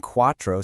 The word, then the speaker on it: cuatro: Notice how the C in cuatro sounds like a K, but in cinco it sounds like an S?